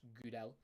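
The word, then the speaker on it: Gudelj: pronounce his name uh the J is silent so it is just good L um he's Serbian he's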